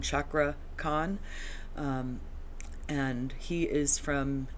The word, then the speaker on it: Cakra Khan: that's how it's pronounced that CA I think is a CH sound chakra con um and he is